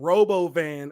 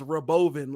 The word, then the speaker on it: Robovan: called it the Roven he started pronouncing Robo van as Roven like it's going to